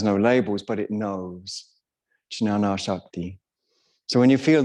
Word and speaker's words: Jnana: Some people pronounce it Jnana, that's why I got in a kerfuffle, or Jnana. Both, you know, it ranges. I've heard experts in the field say it both ways.